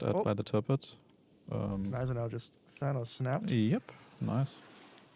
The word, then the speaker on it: Gneisenau: somebody says the G is silent in Gneisenau. I'll ask the German. Gneisenau. It's not silent. There are, unless it's like, we're just using the word from another language. You pretty much always pronounce all letters in German, I think.